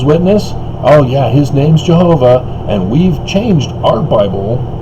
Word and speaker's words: Jehovah: Well, the J is a European alteration of the Yod, which is Semitic Hebrew, which is the Y sound, not J sound.